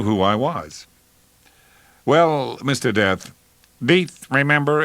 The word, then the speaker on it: Death: "Your name is Death?" "Pronounced Death, with a long E.